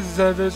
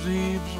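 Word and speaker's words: Zebes: So, yeah, basically, you just go around playing Zevis or Zeebs, whatever, however you want to pronounce it. It's Zevis, but a lot of people pronounce it.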